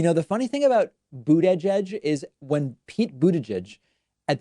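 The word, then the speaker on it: Buttigieg: and so i've just been pronouncing it that way pete boot edge edge even though i'm not running it together the way a normal person might do i'm glad that you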